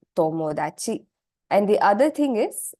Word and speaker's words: tomodachi: It's not THA, but the sound when you pronounce it is actually the softer THA sound. Okay, so it's ta. So words like tonari, for instance, right? Tonari and tomodachi. So these two words, it's tonari, tomodachi.